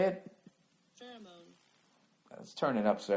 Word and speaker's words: pheromone: Pheromone.